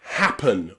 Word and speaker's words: happen: But today, remember, the letter E is very often pronounced as a schwa sound, okay? In words like happen or open or often, okay? The E and the N there is pronounced with a schwa.